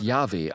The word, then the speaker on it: Jahwe: Also, der Name wird „Jahwe“ ausgesprochen.